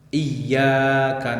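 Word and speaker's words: إِيَّاكَ: Pada ahli qiraah sab'ah, qiraah yang 7 itu mayoritas ulama membacanya dengan memberikan tasydid pada huruf ya. Iyyaka na'budu wa iyyaka nasta'in.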